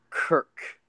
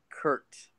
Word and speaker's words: Kirk: Even Larry Michael was trying to get him to say Kirk, not Kurt, on some kind of like video.